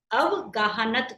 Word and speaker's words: अवगाहनत्व: अवगाहनत्व, इसको प्रोनाउंस करना सीखना है, अवगाहनत्व। अवगाहन लिख के आधा त और व, अवगाहनत्व गुण।